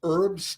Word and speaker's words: herb: little table settings of herbs because the H again is silent right it's not a herb herb another wasted letter for weeks